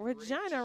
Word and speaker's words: Regina: Regina rhymes with fun."